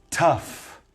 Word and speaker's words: tough: over dude tough again this GH is gonna sound as if the word it were an F tough very common word